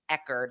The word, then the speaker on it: Echard: And I believe his last name, by the way, is pronounced Echard, like a hard.